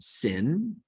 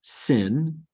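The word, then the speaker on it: שין: And sin is a regular S as in sun, and has the same sound as samach. Okay. Now the trick for remembering these 2 and distinguishing them is that sin is never right.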